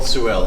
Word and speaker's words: Sorel: us the story of Sorel so am I saying it right first of all that's a good question and I will get back to that okay it is called suell and I will I'll